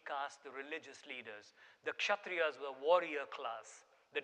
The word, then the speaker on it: Kshatriya: The second, a word that most Americans find hard to pronounce, is the Kshatriyas, the K and the S. There's no silent K or S. It's the Kshatriyas, who were the warrior class.